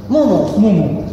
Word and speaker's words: Mumu: Che adesso noi, essendo del giro vegano fruttariano e ecologici fruttariani, il prodotto 100% fruttariano si chiama Mumu, con l'accento sulla U.